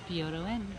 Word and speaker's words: Byodo-In: If you're from, how do you pronounce this place again? Byodo-In.